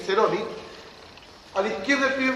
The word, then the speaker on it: Ceroni: Al lado izquierdo de él, el primer vicepresidente, Guillermo Ceroni, o Ceroni, pero se escribe con C, Ceroni.